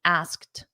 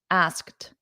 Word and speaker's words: asked: notice that pronunciation ask it ends in a very soft T everyone repeat after me asked asked asked to join us